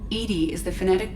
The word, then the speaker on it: EDI: airlock is a jar why are you named edie edie is the phonetic pronunciation of e that is an acronym for